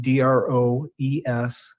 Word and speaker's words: Droesbeke: That I think is how you pronounce the name, Droesbeke.